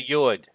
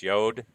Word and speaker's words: Yud: It's a Yud. Some people pronounce it as Yod.